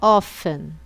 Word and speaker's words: often: hardly ever never então pronúncia do often você não fala o t Tá bom é só often então repetindo always usually